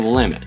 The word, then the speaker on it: Willamette: There are 12 bridges that cross the Willamette, and yes, that's how you pronounce it.